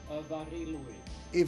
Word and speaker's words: Mari Lwyd: Apparently the way to pronounce it is Mari Lwyd. I was mispronouncing it very badly.